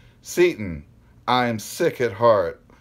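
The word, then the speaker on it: Seyton: It's S-E-Y-T-O-N. Seton. Not Satan. Well, it could, S-E-Y can sometimes be pronounced as an A sound.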